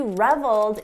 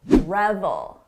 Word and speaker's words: revel: just an important note don't confuse the pronunciation with the very common word reveal we're talking about revel revel reveal Rebel notice the difference in the vowel sound this is a short sound oh Rebel long sound reveal he reveled in